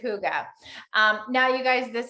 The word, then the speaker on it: hygge: stands for um that i believe it's um swedish danish one of those um and you do pronounce it hygge um now you guys